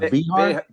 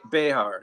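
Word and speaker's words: Bejar: Is his last name's pronounced Behar? Behar. Yeah. Behar.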